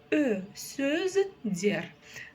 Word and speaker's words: сөздер: Сөздер. Дальше второй слог, буква Е, и вот как пишется, так и читается, и ничего не искажается.